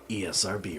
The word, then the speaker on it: ESRB: It's not a word, it's an acronym. I've never heard that pronounced that way, ever. It's even on TV commercials. They spell it out. ESRB rating.